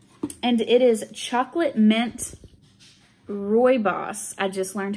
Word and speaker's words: rooibos: our herbal tea and it is chocolate mint roy boss i just learned how to say it correctly roy boss um so chocolate all right oh no